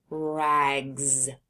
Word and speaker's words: rags: Now, if we take off that T and add a G, the word is rags. Rags. You can hear the S is making a Z sound at the end of rags.